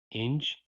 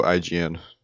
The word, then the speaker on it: IGN: second incursion was a video from Inge. I don't know how to pronounce it. It's a video game website. How do you pronounce that? Oh, hold on a sec. Oh, IGN. IGN, yeah. They made a video not